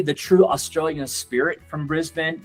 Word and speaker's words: Brisbane: We'll visit the city of Brisbane. Now, Americans, we typically say Brisbane, but this is actually pronounced Brisbane, and it's not really on the radar of many tour operators.